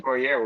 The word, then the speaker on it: Poirier: How you Poirier.